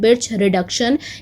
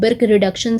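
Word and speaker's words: Birch reduction: सो इसका right answer है बिर्च रिडक्शन। इसको आप प्रोनाउंस कर सकते हो बिर्क रिडक्शन से भी।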